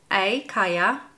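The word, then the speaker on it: Calla: It's spelled with C-A-L-L-A, Kaya, if it is in Spanish. Otherwise, it's color, I suppose.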